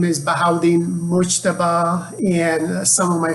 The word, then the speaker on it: Bahaudin: let me just say that my name is bahauddin muchtava and some of my friends call me for short because my first name is pronounced bahau i graduated from addison community college in fort